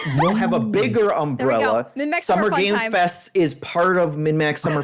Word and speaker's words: Summer Game Fest: don't understand why it's summer game Fest I there were multiple games there and I keep saying games with an S yeah it's not with